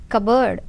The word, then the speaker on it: cupboard: from cupboard c u so which letter is silent here p cupboard of a kitchen k